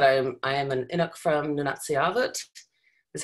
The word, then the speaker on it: Nunatsiavut: So I'll just note quickly that I am an Inuk from Nunatsiavut. Is how you pronounce that, Wayne.